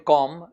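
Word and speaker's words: comb: कॉम कंघे को बोलते हैं, कंघी को बोलते हैं, और ये ब नहीं बोलना है, ये साइलेंट होता है इसमें, ठीक है. The pronunciation is कॉम.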